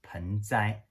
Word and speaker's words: penzai: bonsai to Chinese character the Japanese pronounces bonsai and the Chinese pronounced as pansy which means the potted plants